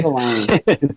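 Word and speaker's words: Michelinie: I believe it's actually pronounced David Michelini, if you can believe that. Yeah, they actually revealed that in the letters page of a Spider-Man comic. Okay. Michelini.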